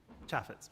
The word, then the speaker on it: Chafetz: Chafetz, is that, am I pronouncing that right? Chafetz, yeah.